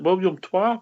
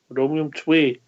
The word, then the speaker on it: Willem II: How are you pronouncing it? William Twa? William Two? William... How did Fox pronounce it, Bridge? William Twa? Foxy went for the Twa. He went for Twa, didn't he? Twa. Dutchie put him right. couple of times. Tway. William Twat. William Tway. Yeah, that'll do.